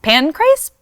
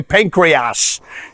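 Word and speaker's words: Pancrase: Japan for the organization Pancras pin Christ butchered a lot of people say pancreas you know the thing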